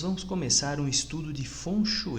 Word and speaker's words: feng shui: é um funcho e a escrita dele é feng shui porém ou a pronúncia correta é funcho e um show é